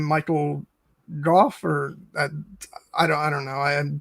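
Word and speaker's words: Gough: Kate is weighing in, saying her friend with the same last name pronounces it Goff.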